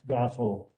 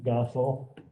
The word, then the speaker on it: Gossel: Okay, and I will correct the pronunciation of Max's last name, because he's pretty touchy about that. It's Gossel, Max Gossel.